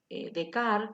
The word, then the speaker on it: Descartes: Y precisamente ese momento del nacimiento del concepto de sujeto comenzó con este filósofo llamado René Descartes, o Descartes, como ustedes quieren pronunciarlo, que es un filósofo francés, ¿no?